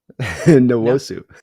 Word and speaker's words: Nwosu: Is that? Nwosu. Oh wow, no, I was way off. Way off. Yeah, it's a tough one. That's not one we don't run across in America a lot, with that pronunciation on those 2 letters together.